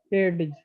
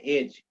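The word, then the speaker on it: edge: लोग एज बोलते हैं एडज एज बोलते हैं एज डी साइलेंट रहता है ई डी जी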